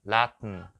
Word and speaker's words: Latin: 원래 이게 소리가 죽는다 그래서 묵음이라고 해요. 묵음. 그래서 응응 해봐요. 그래, 그렇게. 그러면은 우리 마운틴 들어봤어요? 산? 산도 마운튼 이렇게 발음하는 거고요. 런던 들어봤어요? 런던이 아니라 런튼 이렇게 발음하는 거고요. 얘는요, 라튼.